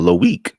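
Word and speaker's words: Loïc: That's how he pronounced it in the video. Loic.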